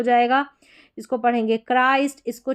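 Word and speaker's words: Christ: दिया च नहीं गलत हो जाएगा इसको पढ़ेंगे क्राइस्ट। इसको चराइस्ट नहीं पढ़ देंगे।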